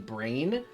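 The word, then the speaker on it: Brahne: Yeah, I think actually most people who are in the Final Fantasy community actually say Queen Brain, but I don't like that pronunciation as much. Yeah, I think Queen Brawn is the better read.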